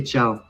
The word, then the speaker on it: ciao: It's almost like when you say whoop whoop, you say ciao.